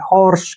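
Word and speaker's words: hoarse: हो हो जाएगा और यहां पर ए का उच्चारण हमने नहीं करना है आर से हो जाएगा र और एस से श और जो यह र है इसके ऊपर आ जाएगी हॉर्स क्या पढ़ेंगे इसको हर्स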